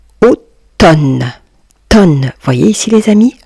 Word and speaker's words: automne: Automne. Tonne. Voyez ici les amis, le M est une lettre muette.